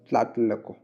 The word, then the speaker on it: Tlatelolco: Treaty of TLA, tlatelolco, treaty of tlatelolco। थोड़ा pronunciation करने में थोड़ा तकलीफ होता है, लेकिन this is द वे इट इज, tlatelolco, ठीक है।